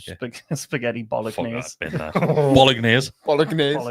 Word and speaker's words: bolognese: Spaghetti Fuck bolognese. that, bin that. Bolognese. Bolognese. Bolognese. Does any of you say bolognese? You say I bolognese. pronounced the G Bolognese.